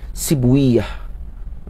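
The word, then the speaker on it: سيبويه: Macam Sibawaih, maka tak baca Sibawaih. Kalau ulama hadis baca Sibwiyah.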